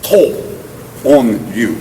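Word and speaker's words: Tōon-ryū: from his teacher's name to use what they call the alternative pronunciation, the onyomi as opposed to the kunyomi, to call it Higaonna style karate. But instead of saying Higaonna, the onyomi pronunciation is To On-ryu.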